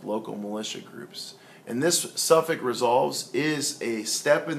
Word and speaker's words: Suffolk: Suffolk is spelled Suffolk, and it's pronounced Suffolk.